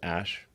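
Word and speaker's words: Æ: letter x and then the AE is like pronounced Ash yeah and then uh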